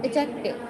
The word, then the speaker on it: adjective: Now comes adjective. Adjective बेटा, इसमें D silent होता है, इसको हम एडजेक्टिव बोलते हैं.